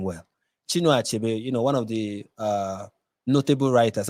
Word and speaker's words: Chinua Achebe: Let me pronounce his name well. Chinua Achebe, one of the notable writers, and even Wole Soyinka.